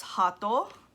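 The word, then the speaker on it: ハート: oyatsu and oyatsunojigang heart in japanese is just pronounced hato this one is more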